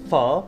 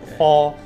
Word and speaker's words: phở: Be careful, because of pho, also you have to pronounce it right.